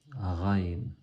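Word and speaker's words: غ: Et ça fait penser au R en français. Quand je dis par exemple la route, quand on dit la route, ben, c'est exactement cette lettre, c'est le Raïn. Ou si on dit le rat, ou le riz, c'est cette lettre, Raïn.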